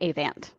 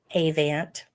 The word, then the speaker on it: Avant: You know, I married into it. They say Avant. Avant.